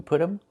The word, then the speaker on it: put them: We make a reduction. We say put them. The t changes to a fast dy. Put them. Put them. And you hear um instead of them.